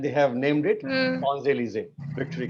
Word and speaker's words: Champs-Élysées: Sans, and L-Y-S-E-E will become lise. Sans lise. Champs-Élysées.